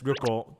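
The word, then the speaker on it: 旅行: Yeah, it's ryoko.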